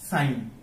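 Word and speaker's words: sign: করা যাবে না যেমন সাইন এখানে জিটা কি সাইলেন্ট ওকে এরপর দেখবো আমরা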